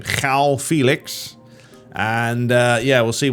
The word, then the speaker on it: João: They're going for João. That's how you say his name. João Felix.